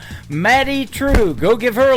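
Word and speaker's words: Madye Trew: That is a brand new single from Maddie True. It is M A D Y E on her first name and True is spelled T R E W. Matty True.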